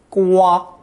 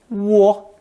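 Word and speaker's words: 蜗: Usually pronounced first tone, gua, gua. Although the dictionary also lists first tone, wo, as an alternate pronunciation.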